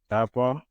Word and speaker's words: Tappahannock: I did a Google search and it is Tappahannock, Virginia.